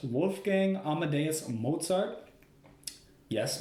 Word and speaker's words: Mozart: book it was written by his name is pronounced Wolfgang Amadeus Mozart yes Mozart like he's famous that one and yes his